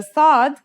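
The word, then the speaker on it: صاد: this lesson is s The Sod is basically the strong version of the scene we learned in the last lesson and it's kind of sounds like the s in the word saw this sound is pronounced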